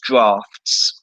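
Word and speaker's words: draughts: Stevens thought I said giraffes, and I realized that I said drafts, and it sounds like giraffes, but it's not.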